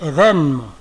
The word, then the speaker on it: événement: Même dans la prononciation aiguë, c'est long. Tu ne dis pas événement. Tu dis événement.